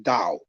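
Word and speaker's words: Tao: becomes about Dow t-a-o which is pronounced Dao in China is about of course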